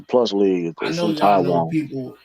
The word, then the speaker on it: P League: It's pronounced the plus league.